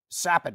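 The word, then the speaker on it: Capan: of those new players sappin I should say is how you properly pronounce his name you probably do recognize the name once I pronounce it correctly because he made news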